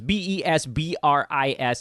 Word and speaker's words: Besbris: I am Vespris, by the way. Vespris is how you... It's written the way you pronounce it, although I guess that's relatively difficult. It's Besbris.